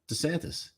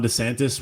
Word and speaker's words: DeSantis: more willing to support desantis you know what's kind of annoying i've noticed this every single person calls ron desantis ron desantis and he calls himself desantis so we're all pronouncing